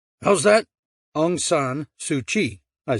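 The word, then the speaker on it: Aung San Suu Kyi: I said how's that angan sui I said that's how you pronounce it then why spell it with a ky well I said that's Burma for you if you ask me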